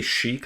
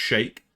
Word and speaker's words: Sheik: I always say Sheik. I think that's because I'm English, but I think it's actually supposed to be pronounced Shake.